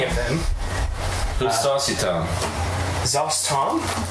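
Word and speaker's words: Szass Tam: Zostom, he's here, I'll spell it for you. It's SZASSTAM.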